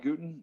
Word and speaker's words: Gooten: can find out why we are uh called guten it is a homage to johannes gutenberg and